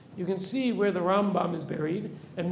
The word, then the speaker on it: Rambam: little tip right that when we say Rambam we always put the stress on the first syllable when we say from